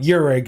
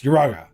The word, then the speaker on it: Uraga: Tell her it's not Yurig, it's Uraga.